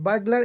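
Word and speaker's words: burglar: बगलर, है ना, तो बगलर यहाँ आर साइलेंट है, तो बगलर मतलब होता है चोर या सेंधा मार, जो दिखाकर चोरी कर लेता है ना।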